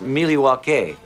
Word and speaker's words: Milwaukee: Indian name he espied it is actually is pronounced Milwaukee which is Algonquin for the good land I